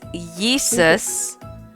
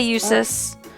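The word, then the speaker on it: Jusis: It's Yeesus. I always want to say Eusus, but it's Yeesus, and he's like he's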